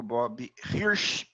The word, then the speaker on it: Bob Hirsch: De volta aqui ao nosso Café Corporativo de hoje com o meu amigo Bob Hirsch. Pronunciei corretamente, Bob?